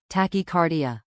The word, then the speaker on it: tachycardia: Some of the symptoms you should tell your healthcare provider about include chest pain, also known as angina, tachycardia, pronounced tachycardia.